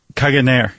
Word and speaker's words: Caganer: Um how do how do you pronounce this? The Caga Tió Caganer? Caganer. Caganer. Yeah, pretty close.